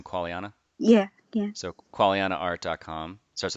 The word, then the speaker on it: Qualiana: Qualiana?